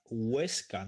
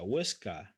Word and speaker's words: Huesca: Teruel, Zaragoza, Huesca, no Huesca, Huesca.